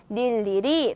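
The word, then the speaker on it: 늴리리: 발음에 대해서 알아보도록 할텐데요 밀리 리를 어떻게 발음 할까요 자음의 첫 소리로 가지고 있죠 니은 이라는 자음을 첫 소리로 가지고 있으므로 어떻게 발음 한나 닐리리 라고 발음을 합니다 그리고 두번째 단어의 첫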